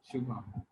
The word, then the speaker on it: Shubham: Shubham. Yes. But in general, it's great. Wonderful. I am doing my best to pronounce names correctly, but I butcher them quite often on the show.